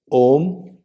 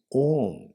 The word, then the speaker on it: Om: The Om is constituted of 3 letters: A, U, Ma. A, U, Ma. So these 3 together, combined together, it doesn't make it makes Om.